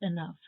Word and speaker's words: enough: like laugh still not enough enough meaning sufficient has the same sound as rough and tough you might expect these